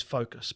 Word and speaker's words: Fokas: And my surname is focus, but it's spelled f o k a s, but I I say focus.